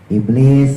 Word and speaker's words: Iblis: Iblis sinnya tipis taruh bawah antara gusi bawah sama gigi bawah ya, sama kayak zai mahrotnya. Iblis, jadi ujung lidah jangan sampai naik ke atas.